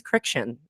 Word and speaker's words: Kriksciun: Yeah, mine's Criction. It's Criction. just friction with a K.